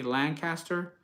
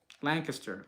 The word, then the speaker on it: Lancaster: I used to say Lancaster, but somebody corrected me. They're like, that's not how we pronounce it here. The natives here in Lancaster, Pennsylvania, they don't pronounce it that way.